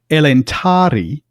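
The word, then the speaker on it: Elentári: But elentari because it's got an acute accent on it. It tells you it's long. It's not telling you the accent is here though the accent is here.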